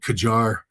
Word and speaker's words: Qajar: Tehran, we're blowing up some of the old Qajar. And again, I might be mispronouncing that.